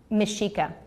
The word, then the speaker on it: Mexica: Mexica.